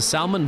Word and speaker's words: salmon: He's a salmon vodka machine. Right there. Salmon or salmon? Salmon vodka. Not pronouncing the L in salmon, please.